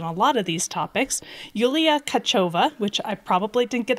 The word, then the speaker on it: Yuliia Tkachova: inviting me and having want correct my pronunciation um yeah so I'm kacho but it's so much fun yeah so tell